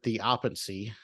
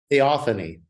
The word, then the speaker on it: theophany: In your book, you use a big word, theopancy. Did I say it right? Theophany.